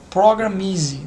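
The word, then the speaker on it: Programiz: O nome dele é Programmis com Z, mas eu acredito que do inglês acaba a pronúncia acaba sendo Programmise, né? Easy, não sei lá, uma suposição, tá?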